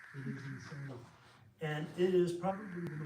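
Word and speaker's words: Insein: were talking about the prison in the prison insane and insane prison. That's how it's spelled. That's how it's that's all. I N S E I N. It is insane.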